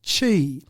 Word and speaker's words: Qi: Now QI is pronounced chi.